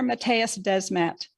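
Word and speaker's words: Mattias Desmet: precursor for totalitarianism it is again today dr matthias desmet by pronouncing his name correctly the professor at gantt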